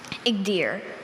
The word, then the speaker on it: Igdyr: Igdir.